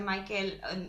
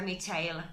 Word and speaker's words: Michael: porque yo es que siempre decía Michael hasta que un día pensé un momento este señor no es inglés ni es americano Entonces igual no se pronuncia Michael efectivamente lo estaba diciendo mal se pronuncia michil Pero bueno o algo